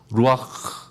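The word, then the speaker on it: רוח: 근데 루악보다는 정확히 루악 이렇게 가래침 좀 나올 때 하는 식으로 루악, 그게 정확한 발음인데요.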